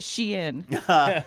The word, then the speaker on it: Shein: apprenticed at Shein. By the way, just learned that's how you say it. I was calling it Shine.